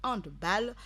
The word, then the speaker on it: handball: Voilà, football, on dit football parce que c'est anglais, alors que handball, qui est un mot d'origine allemande, on lit l'énonciation de la dernière syllabe diffère. Donc, ball, B-A-2-L, se dit ball, simplement.